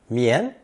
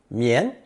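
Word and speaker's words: 綿: Pronounced second tone, 棉, 棉. Silk thread is traditionally pulled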